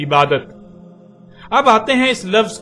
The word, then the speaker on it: عبادت: لکھا جاتا ہے عبادہ، اور جب عربی لہجے میں اس لفظ کو پڑھا جاتا ہے تو تیز ساکت ہو کر ہے کی آواز میں بدل جاتی ہے، یعنی اسے عبادہ پڑھا یا بولا جائے گا۔ عربی کا لفظ عبادہ جب اردو میں شامل ہوا تو اسے عربی کی بجائے اردو لہجے میں تے کے ساتھ بولا گیا اور بولا جاتا ہے، یعنی عبادت۔ اب آتے ہیں اس